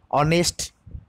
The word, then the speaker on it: honest: वैसे ऑनेस्ट, HONEST, इधर H silent हो गया तो ऑनेस्ट उच्चारित हुआ, जिसके पहले हम आन इस्तेमाल करेंगे।